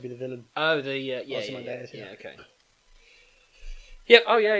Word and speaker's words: Ozymandias: That's So the poem it says here is I can't pronounce this, by the way. Osmanideus. No, yeah, you're Cain close. and Abel's Ozymandias.